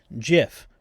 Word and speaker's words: GIF: to pronounce the word GIF, right? Some people will say, "Oh, it should be GIF because it's graphics interchange format." Uh the person who invented it said it should sound like the peanut butter, right?